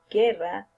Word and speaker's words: guerra: But if you don't have the 2 points here, the diéresis, you will pronounce ge, gi, like guerra, guinea.